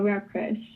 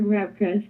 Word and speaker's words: Rapcrush: Basically, you could just call me or Rapcrush. Okay. So I prefer Rapcrush because it's like something new.